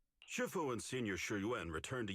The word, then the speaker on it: Shifu: When I see this word, right, I think Kung Fu Panda, master Shiffue, and I'm learning that it's pronounced Shifu instead.